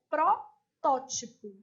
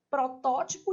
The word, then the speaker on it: protótipo: Então, na letra A, é protótipo. De rubrica. Então, aqui, ó, sílaba tônica, protótipo e rubrica. As duas estavam erradas, tá?